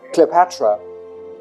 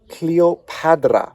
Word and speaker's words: Cleopatra: we have hand, and that is actually the D sound, not the T sound. So we have Cleopatra. So we might actually be pronouncing her name incorrectly. It's not Cleopatra, because clearly written here in hieroglyphs, it is Cleopatra.